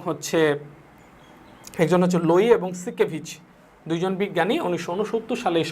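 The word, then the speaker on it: Siekevitz: এবং হচ্ছে আর একজন বিজ্ঞানী, সেটা হচ্ছে কি সিকেভিচ, লোই এবং সিকেভিচ, SIEKVITZ, বানানটা কিন্তু একটু অন্যরকম, ক্রিটিক্যাল।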